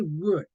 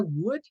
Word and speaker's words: would: very easy good okay wood like Madera yes like Madeira would um don't pronounce the L it's a word excellent